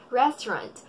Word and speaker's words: restaurant: the correct way of saying this one is restaurant restaurant so Hindi Shekau - arrest powerin pinnacle